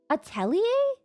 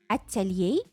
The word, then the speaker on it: atelier: The accent is not on the T. Atelier? You want it to be more French, like atelier, like that? You want more accent on the A part?